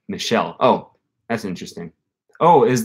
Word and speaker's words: Michel: it's more like Michel it's pronounced like Michelle oh that's interesting oh is that is that a French name Michel Michel Thomas I'm gonna